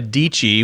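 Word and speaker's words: Dietschy: And as I was thumbing through, I ran across Sarah Dici, which rhymes with Peachy, her Twitter stream.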